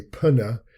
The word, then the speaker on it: pneumonia: We don't say pneumonia, we just use the N, pneumonia, and yet we still spell it with the P at the beginning.